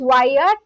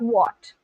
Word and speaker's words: Wyatt: I was calling you what all this while, and then Soul told me the other day that your pronunciation is Wyatt and it's not what.